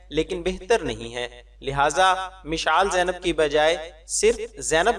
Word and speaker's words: مشعال: زیادہ بہتر ہے۔ سوال: مشال زینب نام رکھنا کیسا ہے؟ جواب: مشال کا درست تلفظ مشعال یعنی عین کے ساتھ اور میم کے زیر کے ساتھ ہے، اور مشعل اور مشعال